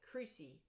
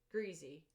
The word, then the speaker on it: creasy: common green eaton and they call it creasy greens not greasy creasy c-r-e-a-s-y i would assume how